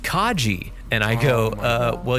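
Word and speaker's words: Kage: I go uh cage Romero is like no dude it's pronounced Kaji and I go uh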